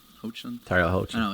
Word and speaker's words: Hoechlin: Hoechlin. Hoechlin. Tyler Hoechlin. I know, it's spelled H-O-E.